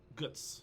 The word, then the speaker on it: Götz: know I did listen to it and it's pronounced guts yeah it's like it's it's almost a yeah